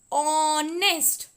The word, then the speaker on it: honest: HONEST. ऑनेस्ट. इसमें H silent है.